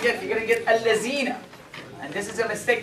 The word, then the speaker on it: الذين: when pronouncing the word الذين, the tongue should be between the teeth. And a lot of people said false. الذين.